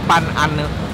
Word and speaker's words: Pan Ana: adalah namanya babi guling Pan ane tapi tulisannya Pan Ana cuma bacanya babi guling Pan Ane seperti biasa main cuaca